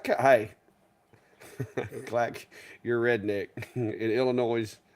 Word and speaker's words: Illinois: clack Your Redneck in Illinois you don't pronounce the S hey I can't help